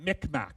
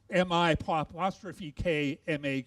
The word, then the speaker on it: Mi'kmaq: man, a young boy, we actually pronounced that Micmac, M-I-C-M-A-C. And that was sort of not a very sort of nice way and pronunciation of saying it. The Mi'kmaq themselves pronounce it, or say it as they see up here, M-I-K-M-A-Q, and the last letter is silent, so Mi'kmaq.